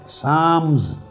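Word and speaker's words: Psalms: इसमें एक बाब है साम्स। लिखने में पी एस ए एल एम एस लिखते हैं। मगर पी और एल दोनों साइलेंट होते हैं।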